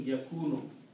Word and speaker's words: yakunu: Now, waw and fatah don't go together; they are mismatched. So we try to adjust the sound of this word, and it is adjusted by rewriting and pronouncing yakunu. Yakunu.